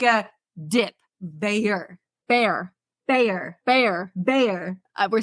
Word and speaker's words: Bayer: are talking about the bear AIDS Scandal bear bear bear we are saying the same thing you're saying Bearer and I'm saying Bayer with a Y no one pronounces the Y bear bear if you uh